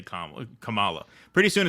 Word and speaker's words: Kamala: remember moo says it's hate to say Kam Kamala pretty soon it's going to be against the YouTube rules to say Kamala say it's not no it's Kamala that well that yeah well that's that's because